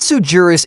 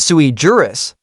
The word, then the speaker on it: sui juris: the words right because it's not sujurus, it's sui juris, which is Latin for